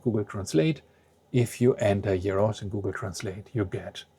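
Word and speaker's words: γέρος: These are two words that are written the same, but the tone, the stress is on a different syllable. Yeros means old, an old man.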